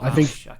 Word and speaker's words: Vaush: Is it Vaush or Vaush? I would pronounce it Vaush. I say Vaush.